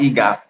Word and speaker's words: EGA: Actually, it's actually pronounced EGA, EGA.